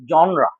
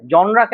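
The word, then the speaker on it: genre: শুনে, আপনি যে প্রোনাউন্সিয়েশন শুনছেন নতুন প্রোনাউন্সিয়েশন, আপনি আমি আমার নিজের একটা ভুল বলি, যেমন জনরা। হ্যাঁ, জনরাকে আমি প্রথমে প্রোনাউন্সিয়েশনটা জানতাম না, এটা জেনার এভাবে বলতাম। থাক, নিজের ভুল নিজে স্বীকার করছি। তো যখন আমি জানলাম যে উচ্চারণটা জনরা, তখন আমি জনরা বলার চেষ্টা করি, জনরা।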